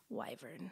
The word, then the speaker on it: wyvern: it was funny because this narrator does say wyvern the entire series and it is in fact wyvern all right well that's